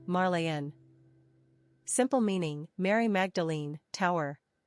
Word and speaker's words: Marlene: Throughout the 1930s and into the early 40s, Marlene became a top 100 favorite girls' name in